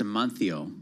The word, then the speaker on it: Amancio: Also, in Spain, the C is pronounced like a TH. So it's, and the Z, so it's Amancio.